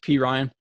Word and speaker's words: Perine: perrine i i think i think it's p ryan um and i should say p ryan i think that's how his brother's name or his cousin's name is uh pronounced but uh so i'm gonna call him p ryan um all right he's